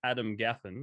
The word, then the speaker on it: Adam Gaffen: you his name is adam gaffin and i'm pretty sure i pronounced that right didn't i adam you did you did it's pronounced just the way it looks yeah cool um how